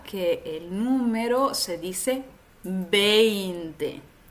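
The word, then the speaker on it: veinte: dos letras Así que la v Normalmente se pronuncia como una B en español otra dificultad que tiene este número es el diptongo e i en español Recuerda que el número se dice 20 20 y no decimos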